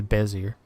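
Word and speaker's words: Bézier: Like, they've even got animations, and you set like your Bezier, I think is how you pronounce it, or Bezier. I think it's Bezier.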